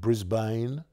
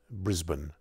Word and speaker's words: Brisbane: but it's actually pronounced brisbane just like melbourne is pronounced melbourne and brisbane well i think it was never pronounced brisbane but brisbane australians like to drop as many syllables as they can and just a few